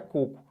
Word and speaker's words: coco: Mas não é cocô, tá? Isso aqui é coco. Por quê? Porque se eu quisesse escrever cocô, seria assim. E não por diferencial, e sim por ser a regra. Essa palavra leva acento por quê? Porque é uma oxítona terminada em O. Por isso. Então não tem que fazer um diferencial. Já tem diferença. Se eu quiser escrever coco, é assim que se escreve.